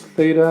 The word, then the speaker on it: theta: here one real quick symbols this symbol represents theta is how you pronounce it's the greek letter alphabet representing theta